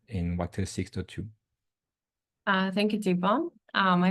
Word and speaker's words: Thibaud: I'm Thibaud, pronounced him.